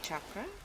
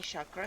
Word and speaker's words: chakra: So please, if you are saying chakra, stop it. It's incorrect. It's a Sanskrit word, and the correct way of pronouncing it is chakra.